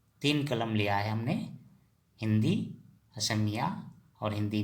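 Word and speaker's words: সিংহ: हि उच्चारण होगा का हि हो हिं हो लिखते टाइम में सिं हो लिखेंगे लेकिन उच्चारण होगा हिं हो क्योंकि असमिया में हमेशा स का उच्चारण ह होता है इसलिए हि हो कहते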